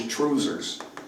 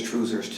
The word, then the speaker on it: trousers: instead of a kill the Scottish pronunciation of the word trousers is truers so we will sing it as truers tonight and and you're